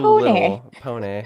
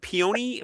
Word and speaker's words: Pony: Is it like P you know, No, it's spelled the same as p o n y like a like a pony. Like a little pony.